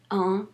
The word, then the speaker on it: un: Don't pronounce it un. Don't say un garçon. Say un garçon.